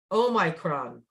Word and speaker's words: Omicron: And they have it, it's perfect because it's oh my, like oh my, Oh my. oh my, oh my, Omicron.